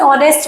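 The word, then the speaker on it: honest: तो देखिए, Ramu is एन ऑनेस्ट मैन, मैंने आपको कहा था कभी भी वर्ड को उसे प्रोनाउंसिएशन से हमें देखना है। ऑनेस्ट मीन्स ओ का साउंड आ रहा है, तो यहाँ पे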